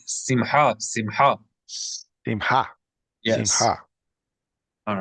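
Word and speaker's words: שמחה: Simha. Right. Simha.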